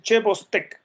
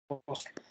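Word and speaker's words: Chvostek: Y este es el signo clínico de Bostek, que por cierto se escribe CH Bostek. Ya por eso le suelen decir Che Bostek, pero normalmente es el signo clínico de Bostek.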